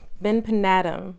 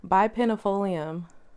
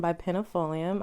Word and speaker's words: bipennifolium: And right below her is my philodendron benpinatum. I think I know how to say it finally, y'all. Benpinatum? No, bipennifolium. Wow, bipennifolium. Okay. So right below her is my philodendron bipennifolium.